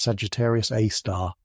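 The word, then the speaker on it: Sagittarius A*: It's a super massive black hole, and we've named it Sagittarius A, pronounced Sagittarius A star.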